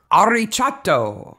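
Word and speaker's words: arriccio: wrote the phonetic pronunciation this is all italian but there's a rolling r here yeah ari chatto yes is the second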